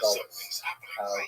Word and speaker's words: galus: a neutral connotation, but the word exile in Hebrew, galut, or in a Ashkenazi pronunciation, galus, that Jews were thrown out of their land.